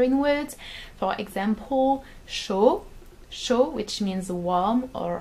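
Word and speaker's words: chaud: in words for example show show which means warm or hot you don't pronounce the d at the end but if you want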